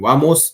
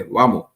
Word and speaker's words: vamos: Like instead of saying vamos, they say vamos. Instead of saying vámonos, they're going to say vámonos. Why?